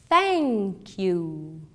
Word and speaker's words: thank you: thank you ou thanks precisamos ter um pouco de cuidado com a pronúncia uma boa dica para pronunciar corretamente é colocar a língua um pouco para fora entre os dentes assim ó vamos tentar thank you hello e thank you